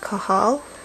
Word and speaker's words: kajal: coal kohal eye pencil it's spelled kajal but I believe it's pronounced kohal okay Soft C Cal